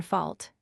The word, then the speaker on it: fault: 69 Fault, pronounced in Pope's Day as rhyming with ought.